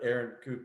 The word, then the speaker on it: Erin Coupe: and there in her own little screen, but Erin Coupe, and this is going to be an awesome conversation. Hey, Erin, I got the pronunciation right. It's Erin Coupe.